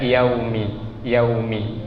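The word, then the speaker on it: يَوْمِ: Ma-nya kita baca 2 ketukan, yaunya jangan dipanjangkan suaranya, lewat saja dia, yaumi ya. Yaunya itu kita bacakan dengan suara lembut yang dalam sifatnya disebut lain. Jadi waw sukun itu memiliki sifat lain. Lain itu artinya lembut. Jadi suaranya lembut.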